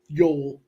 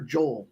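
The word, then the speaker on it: Yoel: minus one 155 for Yol Alvarez I think it's Yol or Joel I'm gonna say Yol I would probably say Yol I said Joel but that's how it's spelled well they might be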